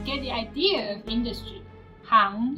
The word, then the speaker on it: 行: The character 行 has two different pronunciations. One is 行, which is more common, and the other one is 行, which means rows or lines.